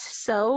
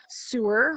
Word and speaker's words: sew: It's sew, not sewer. We don't go around sewing fabric. We sew fabric.